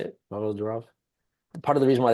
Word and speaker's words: Pavel Durov: That's how you say it, Pavel Durov.